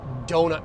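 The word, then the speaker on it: Deaux: I went to this epic doughut place down in Redlands today. It was called D E A U X, but the X is silent.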